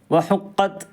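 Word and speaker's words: وحقت: വഅദിനത് ലിറബ്ബിഹാ വഹുഖത്, വഹുഖത് അവിടെ താവിനെ ഉച്ചരിക്കുമ്പോൾ ചെറിയ ഒരു നിലക്ക്, കൂടുതലായിട്ട് പറയാൻ പാടില്ല, ഉച്ചാരണത്തിൽ വരാൻ പാടില്ല. വഹുഖത് അവിടെ ചെറിയ ഒരു നിലക്ക് എന്ത് ചെയ്യണം, ഒരു കാറ്റ് ഇങ്ങോട്ട് വരും.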